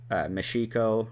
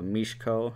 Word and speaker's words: Michiko: wife, the character's wife, Michiko, or Mishiko, I believe is how you say it, Cal, who is the Chinese laborer who butts heads with authority a lot.